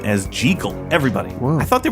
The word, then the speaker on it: Jekyll: Robert Louis Stevenson was Scottish. The correct Scottish pronunciation of Jekyll is Jekyll.